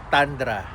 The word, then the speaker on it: Tundra: Siya nga palaung mga taga Toyota sa loob ah kung paano nila i-pronounce 'yung Toyota Thundra is Tandra yan.